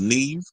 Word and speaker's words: Neve: He said, fun fact, Neve Campbell's first name is her mother's maiden name and it's pronounced as Eve. So her name is Neve.